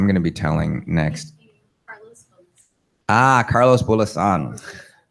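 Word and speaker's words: Carlos Bulosan: Carlos Bulasan. When in doubt, stress the second syllable or the last one.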